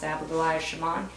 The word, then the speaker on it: Abigoliah Schamaun: It's pronounced Abigoliah Schamaun.